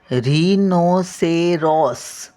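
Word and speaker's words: rhinoceros: इ आर ओ एस हे बघा बघा स्पेलिंग ना उच्चारावरून आहे उच्चार जर स्पष्ट बोललात तुम्ही ना तर हे लिहायला पण येईल बघा री नो say Ross R एच आय एन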